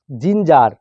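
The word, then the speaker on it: ginger: দেখো নিচের কতগুলি শব্দেও জি এর উচ্চারণ বর্গীর জয়ের মতো হবে। যেমন জিঞ্জার, জিআইএন জিইআর, জিঞ্জার।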